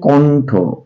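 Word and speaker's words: কণ্ঠ: উচ্চারণটা কি হচ্ছে দেখেন এটার উচ্চারণ হচ্ছে কন্ঠ কন্ঠ করে ঠ কন্ঠ মধ্যন এর উচ্চারণ হয় দন্তন এর মত মনে রাখবেন বর্ণমালায় 50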